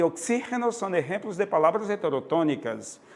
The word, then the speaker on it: oxígeno: Oxígeno é diferente de oxigênio, que é G, é a tônica, G, né? Mas no espanhol, oxígeno, né?